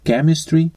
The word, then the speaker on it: chemistry: ці слова 358 разів До речі CH вимовляється як к переважно в словах латинського чи грецького походження тому правильно буде chemistry and stomic у відео зустрічається така